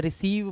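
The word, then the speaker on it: receive: तो यहाँ पर सी का उच्चारण का नहीं है, रिकीव नहीं पढ़ेंगे, इसे रिसीव पढ़ेंगे। तो सा पे बड़ी की मात्रा और वाह, तो ये हो गया रिसीव।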